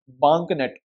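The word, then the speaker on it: BAANKNET: जिसका नाम है बैंक बंक नेट वैसे तो बोलेंगे बैंकनेट बट इसका स्पेलिंग य है बंक नेट मतलब बीड डबल ए आता है बैंकट जो न्यू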